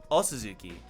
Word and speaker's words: Suzuki: The way they say Suzuki, you should pronounce it like there's only one O, says Midori. First of all, what's up, Midori? Second of all, really? Suzuki.